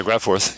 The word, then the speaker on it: GraFORTH: and he wrote transfor and I think it's pronounced graor yeah graph forth yep okay okay and an l d which